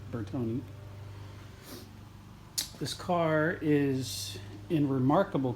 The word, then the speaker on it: Bertone: bertone x19 and yesterday that is how you pronounce it bertoni this car is in